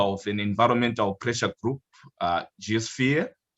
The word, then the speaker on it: GeaSphere: Philip Owen is a founding member of an Environmental Pressure Group GeaSphere. I don't know if I'm saying it right, Philip.